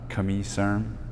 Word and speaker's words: Camille Serme: big splash by signing Camille Serme, or Camille Serme, if you want to have the proper French pronunciation, at least as far as I know, Camille.